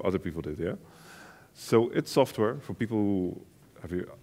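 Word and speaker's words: id Software: So IT Software, for people who have you, I assume everybody here knows Doom. So IT Software is a company that created Doom. It's pronounced IT Software, I'm not sure why, but it is.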